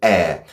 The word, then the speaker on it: heir: We say air like the air around us.